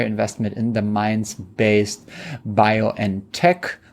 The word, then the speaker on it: BioNTech: in the mines based bio and Tech which is the German pronunciation of what Americans called biontech and it is um the company famous for producing the covid vaccine together with fizer yes in in the US use it's always fiser the fiser vaccine and